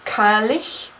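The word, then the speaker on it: Cailleach: as well um your Celtic birth deity is kylish so I really encourage you to go and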